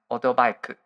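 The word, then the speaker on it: オートバイ: Yeah, actually in Japanese, it is pronounced otobike.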